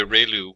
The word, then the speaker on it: ReLU: We have the um ru it's pronounced like ray the ray of from the sun and lu like a name. So relu function and we have the tangent h function.